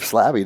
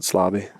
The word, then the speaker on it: Slabby: the episode yeah buddy some will even pronounce it slobby slobby slabby slavy sometimes sometimes I say with a v it all works don't tell me how